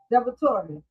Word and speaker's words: DiVittorio: You have the incumbent uh Sam uh Devator.